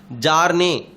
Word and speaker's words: Bjarne: Actually, Jarne, B is silent.